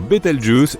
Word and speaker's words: Bételgeuse: supernovables pour le moment quant à la manière de prononcer correctement Bételgeuse tu peux le faire comme bon te semble tu peux même dire beteljuice si tu en as envie la supernova 1987A a